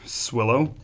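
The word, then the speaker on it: Sewilo: You know, my So, my last name is um S E W I L O. It's pronounced swillow.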